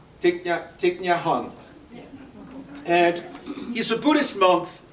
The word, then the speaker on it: Thich Nhat Hanh: Can you pronounce his name? Sure, it's Thich Nhat Hanh.